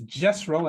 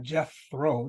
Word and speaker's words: Jesro: That's I usually say it like this: Jesro and not Jethro, Jesro, not Jethro.